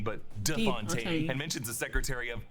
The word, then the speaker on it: de Fontaine: Val corrects Congressman Gary on the pronunciation of her name. It's not Fontaine, but De Fontaine and mentions the Secretary of Defense as Anderson.